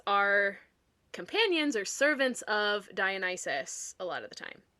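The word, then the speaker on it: Dionysus: And then it's revealed that he is Dian Isis, another name that I mispronounced as a kid. It was Dionis.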